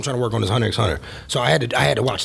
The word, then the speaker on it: Hunter x Hunter: We all know that X is silent. Yeah, sure. Well, for the people watching, I call it Hunter x Hunter, which is fair.